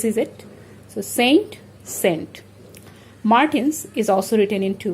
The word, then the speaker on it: Martin's: So we will have to pronounce it as Martins, not Martinos.